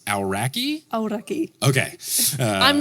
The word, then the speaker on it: Aoraki: Aoraki. Okay. I'm not the best Look, you're better than pronunciation, but yeah.